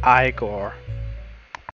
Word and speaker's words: Igor: destiny together till we meet again it's pronounced igor yo you saw what was on last night